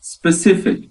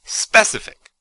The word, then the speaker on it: specific: Okay, well, as you said, the word is specific. That is 3 syllables with the stress on the second syllable. Specific, specific, specific. Yeah, definitely don't put the stress on the first syllable. Sometimes students say specific.